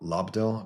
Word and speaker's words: Lobdell: or 8, where Chris Claremont left and Scott Lobdell, that's how you pronounce it, came on.